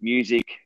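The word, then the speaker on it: Mewsic: foundation called music and it's spelled m-e-w-s-i-c and the reason why i spell it that way it's music with sick at the end so children that are suffering from a sickness you combine music and sickness and get music and it's a play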